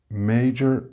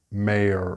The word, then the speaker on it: major: Major and mayor are great examples of this problem. The word is major and not mayor or mayor or some other variation.